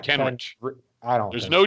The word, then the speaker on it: Kenrich: There's no D in it. It's Ken. I know it's Kenrich, like CH. Say Rick, not Rich. You don't say Rich. That's how it's spelled.